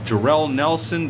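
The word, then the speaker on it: Jorel Nelson: versus the West Coast raking crew consisting of Jerell Nelson that's actually how it's pronounced and Roy Isaacs um the go jumped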